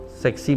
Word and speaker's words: SEQC: It was called Sexy Mastermind. Sunday Evening Quiz Club, SEQC is pronounced sexy.